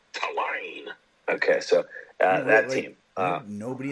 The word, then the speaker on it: Tulane: Yeah, just like it's spelled. Not a single lane.